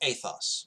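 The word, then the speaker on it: ἦθος: like work ethic and then character is ethos with a long e and so character is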